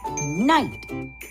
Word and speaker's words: knight: Today, we'll learn how to read words with silent letters. Take a look at that word, knight.